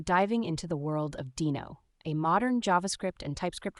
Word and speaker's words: Deno: let's break it down so Dino pronounced Dino is not just any